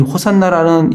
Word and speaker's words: 호산나: 이 호산나라는 이 단어는 이 헬라식 발음입니다.